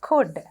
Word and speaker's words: could: then we have could once again we have l silent here could then we have autumn